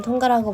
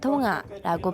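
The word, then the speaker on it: Tonga: 마을이었어요 그런데 그거 아세요 한국에서는 통과라고 발음하지만 원주민들은 통화라고 발음하라고 진행자가 관객들을 불러내 누가 더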